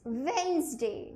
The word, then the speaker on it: Wednesday: It is not Wednesday. It's Wednesday. What is it? It is Wednesday. So जो D होता है बेटा, वो यहाँ पे साइलेंट होता है। डी को आप प्रोनाउंस नहीं करेंगे, इट is kind of silent आप कह सकते हैं।